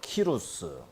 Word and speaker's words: 고레스: 페르시아를 일으킨 왕의 이름은 고레스. 예, 고레스. 뭐 저게 이제 뭐 나라마다 발음이 달라서요. 어느 곳은 뭐 키루스, 뭐 고리, 뭐 다양하게 발음을 해요.